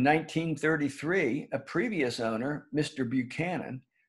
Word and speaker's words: Buchanan: a previous owner mr buchanan pronounced buckhannon by the locals built the dam that